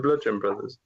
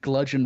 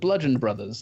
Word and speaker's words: Bludgeon Brothers: match, which was the Bludgeon Brothers. It was I completely got their name wrong. What'd you call them? I thought it was Gludgeon. What? With a G, Gludgeon Brothers.